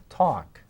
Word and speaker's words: talk: with a capital letter we walk as I told you has that silent l and so does talk and of course we